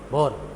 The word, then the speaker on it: Bohr: हाँ बोहर है, हाँ ऐसा होता है बोर, तो इसे बोर भी कह देते हैं। कुछ लोग है को साइलेंट बोल देते हैं, तो नील्स बोर का मॉडल कह देते हैं। सब चलते हैं।